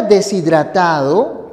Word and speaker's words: deshidratado: final de un renglón la palabra deshidratado tiene esta pronunciación Esta es la separación fonética separación correcta deshidratado Tú no dices sea deshidratado y si lo pronunciaras así si dijeses se ha deshidratado cometes un error de prosodia un error de pronunciación Recuerda lo que hemos